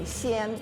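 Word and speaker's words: 鲜: Xian, it's pronounced xian.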